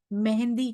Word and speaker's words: मेहदी: इस स्वरूप को कतेब पक्ष में मेहंदी कहा गया है। इस प्रकार इमाम मेहंदी कहें, इमाम मेहदी कहें, या जो एग्जैक्ट उच्चारण उसका है मेहदी, इमाम मेहदी या महामती प्राणनाथ कहें, एक ही बात है सुंदर साथ जी।